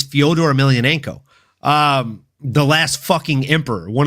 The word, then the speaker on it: Fyodor Emelianenko: the name he doesn't even know how to pronounce. Like, it's Fyodor Emelianenko, the last fucking emperor, one of the greatest heavyweights to ever grace any form of mixed martial arts fighting, folks.